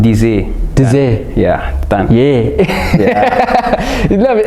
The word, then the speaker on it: Deazy: pronounce it actually like it's actually pronounced dizzy yeah yeah you love